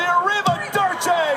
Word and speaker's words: Arrivederci: So listen first. Corey Graves says it right. Julia Derci with the Arrivederci for the victory. Arrivederci.